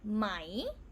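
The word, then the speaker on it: ไหม: we will pronounce as mai rising tone but because tai changes pretty fast we don't really say mai anymore we pronounce it as high tone no matter which way is written so this one is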